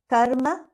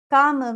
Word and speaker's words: karma: sanskrit has fixed sounds in sanskrit one pronounces the word exactly as it is written for example karma is karma however some people to pronounce karma kama means lust while karma means deed or action correct pronunciation helps to